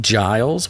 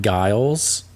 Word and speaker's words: Giles: Giles with a G, not Giles.